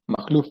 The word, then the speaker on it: Majluf: Y pues bueno, sí, sí está bien pronunciado mi apellido, Makhlouf, así es como lo pronunciaste.